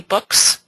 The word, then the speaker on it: Book: to pronounce it, but it doesn't sound like it's pronounced book, but it actually means, it's pronounced book in Danish, and it means like reading a book.